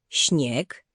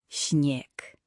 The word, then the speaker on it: śnieg: Teraz litera ś, czyli zmiękczony szy. To trochę jak angielskie ś, ale bardziej miękkie. Pamiętaj, szy twarde versus ś miękkie. Posłuchaj. Śnieg, środa, świeży. Śnieg? Spróbuj jeszcze raz, bez twardego sz. Śnieg, jak szept.